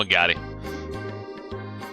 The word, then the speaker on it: Agate: I call him Agate. Like karate.